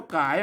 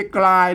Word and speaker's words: กาย: เออ เนี่ กาย น่ะ เพ อ่าน ว่า กาย ไม่ ใช่ กลาย นะ มัน มา เป็น ั้น